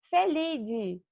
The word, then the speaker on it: Felidae: família dos gatos domésticos tá e se chama felide vou dar um clique aí que vai aparecer